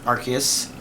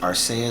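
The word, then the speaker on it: Arceus: for Pokemon Legends AR archus and I I do believe it's kind of officially called that in English although Japanese is pronounced araus so you could do that there's some people saying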